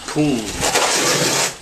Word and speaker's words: poon: The Thai word for cement is poon. And it's a lot easier to say poon than it is cement. Poon, yeah, that's one syllable versus two syllables.